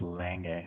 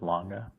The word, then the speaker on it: Lange: Tim's the only person that says Lange instead of Longa, but that's okay. It's part of the Lange. Lange. A lange und Sonne. You know, say it correctly. Man. Don't say longe.